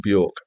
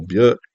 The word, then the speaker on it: Björk: So this was the ninth studio album from Björk, or Björk, depending on how you like to pronounce it.